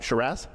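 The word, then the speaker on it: Sheeraz: talks about like for example when Berlanga fought Sharazz. Did I say it right? Sharass.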